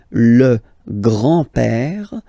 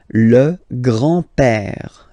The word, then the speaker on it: grand-père: So, le grand-père, grandfather, le grand-père, remember, accent grave like that, it's this open père, le grand-père, le grand-père.